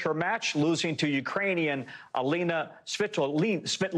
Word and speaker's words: Alina Svitolina: It's Alina Svitolina, and she's married to Gael Monfils.